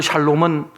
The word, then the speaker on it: 샬롬: 선포하며 살았다는 거예요 그래서 샬롬은 평화를 간절히 구하는 자들이 나누는 인사법이 되겠습니다 우리 서로 옆사람에게 샬롬 주의 평화가 임하기를 원합니다 하고 한번 인사하겠습니다 발음을 잘하셔야 됩니다 살 하시면 안됩니다 샬롬 라고 인사를 하셔야 돼요 간혹 저 아래쪽에 사신분